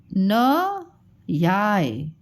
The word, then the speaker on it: न्याय: ये है न याय, न याय, ठीक है।